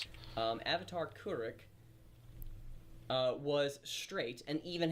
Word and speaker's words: Kuruk: Oh, we'll get to this in a They've actually changed they actually changed the pronunciation of his name because in the original show it was Kuruk like like a h like an h sound but now it's Kuruk.